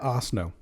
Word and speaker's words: Arsenault: Arsenault. Arsenault, I believe. I think that's how you pronounce it.